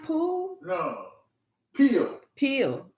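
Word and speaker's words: Peele: Oh, Jordan Pillay. He is such a genius. Who? Jordan Pillay. Am I saying his name right? Jordan Pillay. Poole? Is his name pronounced Poole? No. Peel.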